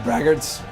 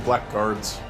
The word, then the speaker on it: blackguard: Yeah, braggarts. I think it's supposed to be Black Guards. That's weird. No, that's how you pronounce that.